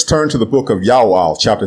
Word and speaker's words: Joel: to the book of Ya'al, chapter 2, verse 32. The prophet's name is Ya'al, not Joel, and it means Ya'o is God.